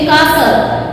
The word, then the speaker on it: castle: के बाद T आ जाता है, then T is silent in both the cases, like CAST यानी castle, castle, okay, castle, T silent होता है।